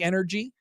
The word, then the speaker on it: NRG: it is that it does sound like energy I mean that's kind of cool I figur that was the bit but it's pronounce NRG does NRG stand for